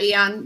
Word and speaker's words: Aeon: So the CO2 and That was Aeon, right? How do you pronounce it? yeah, Eon.